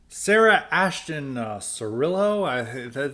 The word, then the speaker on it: Sarah Ashton Cirillo: on Lira on the on the transgender person Sarah Ashton Cirillo that's how to pronounce it's this person's been a it's been